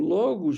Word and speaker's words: Logos: é logo hoje né pronuncia mais correta o Logos Divino é Jesus Cristo